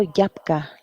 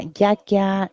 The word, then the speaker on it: Yaksha: Yakia es la versión local de Yaksha. Yaksha es el nombre principal, pero según los dialectos y según los idiomas, la pronunciación va cambiando, pero la connotación y el significado siempre es el mismo. Por ejemplo, Yapka los llaman algunas personas, Yaksha, como decíamos, otros. En diferentes lugares se llama Yakya, Yakshu.